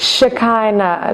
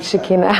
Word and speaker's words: Shekhinah: It's how it's pronounced. Shakina. Shakina. Shakina. Shakina. Not Shikina.